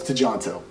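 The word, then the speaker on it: Tjahjanto: apologize uh so this was directed by teemo to jonto to jontu to jonto it's to jonto and it starred iko uis and joe taslim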